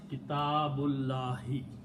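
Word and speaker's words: كتاب الله: small swad on it, which means do not pronounce that alif. So the word is Kitabullahi.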